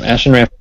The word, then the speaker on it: Ashen Rift: Barry is most recently a little bit in the news for Ashen Rift. Is that how you say it? The Kickstarter? Yeah, that is correct. Yep, Ashen Rift.